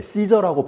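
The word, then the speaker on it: Caesar: 영어는 예 시저라고 발음을 하죠.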